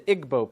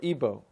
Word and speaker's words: Igbo: nigeria you have the igbo people or ebo pronounced either way there's 40 million of